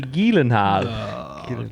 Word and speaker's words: Gyllenhaal: Jake Gyllenhaal. Nah, don't. Do you know how you actually? Do you know how you actually pronounce his name? Because he's from Finland. Jake Tiny Hands Gyllenhaal. It's actually Gyllenhaal.